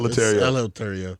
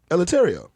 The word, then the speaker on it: Eleuterio: Alvarez I remember letario is it lataria no it's not lataria military yeah let me spell it for you e l e u t e r i o latario i was homeschool but